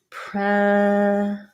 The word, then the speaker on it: present: it didn't come and in present the noun it'll sound like pre-zent because the e is